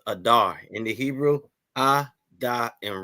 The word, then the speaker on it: Adar: Adar just like it just like it's spelled there that's how it sounds Adar in the Hebrew a